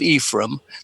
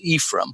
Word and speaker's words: Ephraim: The second book, after the Book of Ephraim, they always pronounce that that name, by the way, Ephraim. It's not the good Hebrew. You were much closer to it with Ephraim, but for them, the